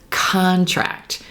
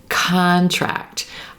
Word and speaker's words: contract: look at this word if we stress the first syllable we have contract contract olive sock contract here